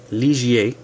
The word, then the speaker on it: Ligier: So this should have an I, Liger. So Liger is how that one is pronounced, although it should be spelled like this.